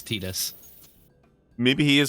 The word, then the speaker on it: Tidus: It's pronounced Tidus? Fuck that, Larson. I refuse. He's actually correct. It's Tidus.